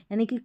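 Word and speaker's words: unique: पर, तो भी हम क साउंड निकालते हैं, यानी कि क साउंड ही इसका उच्चारण होकर आता है।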